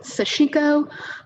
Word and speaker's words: sashiko: Yeah, so some people pronounce it sashiko. The few people I have heard pronounce it, sort of speaking Japanese, have pronounced it more like sashiko. So that's what I go with, but it could be a regional accent and I could be leading you wrong.